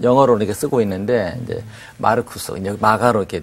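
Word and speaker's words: Marcus: 이름이다 그고이 마가라 이름은 로마식 라틴어 이름이죠 어 그러니까 그대로 이제 발음 보면 마르쿠스 마르쿠스 아마 그 마르크스를 영어로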